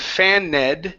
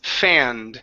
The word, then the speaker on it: fanned: their notebooks okay almost instead of faned the word is fanned they fan themselves with